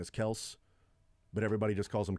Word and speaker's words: Kelce: one, where Travis Kelce says that the actual pronunciation of their last name is Kels, but everybody just calls him Kelce, so who cares?